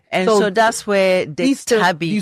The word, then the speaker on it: Tabi: It's Tabi.